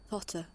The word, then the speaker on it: totter: Totter. Totter. Totter. Totter. R is silent.